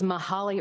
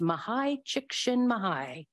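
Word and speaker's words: Mihaly: will tell you anything I thought it was mahali or mahali shishkin mahalin and I thought that that was pretty good pronunciation but I looked it up and I listened and it's mahai he wrote the book flow and some others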